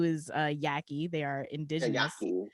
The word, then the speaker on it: Yaqui: Yaqui is how you pronounce that.